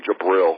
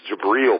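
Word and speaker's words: Jabrill: Ben Gideon jabriel Peppers I'm finally pronouncing his first name right I was always called him jabil but Michigan people call him jabel so I finally have it right it's jabriel Peppers um and Mike McCrae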